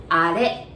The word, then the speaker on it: あれ: I know it says R, but we pronounce it like あれ, right?